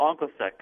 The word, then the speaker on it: OncoSec: 222 do on onos is that how we pronounce it there uh panit is it's it's called anos SEC okay very good and uh it is a